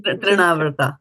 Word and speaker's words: Trinavarta: So this was nice bringing out this one about the mind and the trivarta. How do you say? Trinavarta.